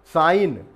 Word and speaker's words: sign: साइन चिन्ह या हस्ताक्षर, सिग्नेचर का शॉर्ट फॉर्म भी हम साइन के रूप में यूज़ करते हैं, SIGN। तो यहाँ देखिए जी साइलेंट है।